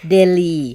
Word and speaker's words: Delhi: slightly different what is the famous city like Delhi yeah and so you know you know in